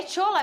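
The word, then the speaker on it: Shola: quem é o tchola é tchola mesmo que fala olha eu falo porque primeiro ele é nigeriano ele se a o nome dele assim que se escreve é sh o l a aí eu pronuncio dessa maneira é um atacante nigeriano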